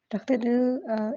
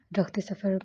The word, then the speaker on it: Rakhat e dil: रख़्ते दिल इस नावल का नाम है। पिछले नावल में मैंने इसको रख़्ते सफ़र प्रोनाउंस किया था, तो उसके लिए हम आपसे माज़रत ख़्वाह हैं।